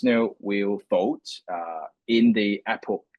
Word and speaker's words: epoch: Now, if we look at each of the epoch, I would say epoch, yeah, epoch is the good pronunciations of it.